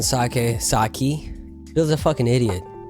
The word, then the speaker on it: sake: there is that sake is pronounced just like rake sake right have you ever